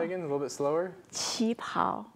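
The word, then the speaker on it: 旗袍: Qi pao. Qi pao.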